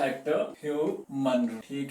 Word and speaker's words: Hugh: Hector, ठीक है, Hector ह्यू Munro, ठीक है, हेक्टर ह्यू मनरो, प्रोनाउंसिएशन भी है हेक्टर ह्यू मनरो, ठीक है, ये जी यू से आप ह्यूज नहीं पढ़ेंगे इसको, you will just go with Hector Hugh Munro।